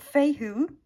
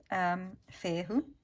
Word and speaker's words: Fehu: So we've got Fehu, Fehu is how I would pronounce it in my language, for wealth.